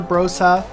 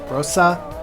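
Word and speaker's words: Brose: So the older your Brosa, that's actually how you say it, Brosa motor is, Bros motor,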